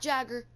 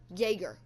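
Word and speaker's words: Jäger: Next, we have Yäger. Not Jagger, Yäger. It's just the way it's pronounced, as the little dots above the A pronounced.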